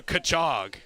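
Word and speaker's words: Cutchogue: It is pronounced also Kachog.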